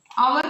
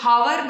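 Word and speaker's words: hour: നമ്മൾ അവർ എന്ന് ഉച്ചരിക്കൽ ഹവർ നല്ല നമ്മൾ ഉച്ചരിക്കൽ അവർ എന്നാണ്.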